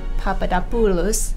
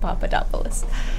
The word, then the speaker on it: Papadopoulos: pronounce your last name if you want to pronounce that the Greek weights Papadopoulos but it's just Papadopoulos here yeah I'm not a